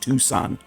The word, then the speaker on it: Tucson: lot of americans mispronounce a lot of british cities and stuff but it's actually just tucson yep that's okay though